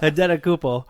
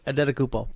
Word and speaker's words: Antetokounmpo: how charismatic he's supposed to be, and Giannis Antetokounmpo came off as just genuine, having fun, smiling young kid. How do you say his last name? Do you want to buy a vowel? Antetokounmpo.